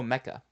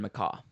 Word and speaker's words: Mecca: Oh, Mecca. Yes. Is that what I said? You said Macaw.